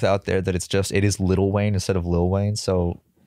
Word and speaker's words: Lil Wayne: It's pronounced Lil Wayne. How it's spelled. It's spelled L-I-L, but it's pronounced Little Wayne.